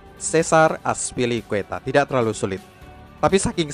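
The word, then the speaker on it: César Azpilicueta: nama yang benar dari pemain Spanyol ini adalah Cesar azpilicueta Cesar azpilicueta tidak terlalu sulit tapi saking seringnya orang mengucap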